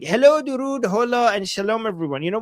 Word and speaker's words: Hola: Hello and shalom and hola. Hola. Not haha. Hola. Am I pronouncing it right? Hola. The h is silent.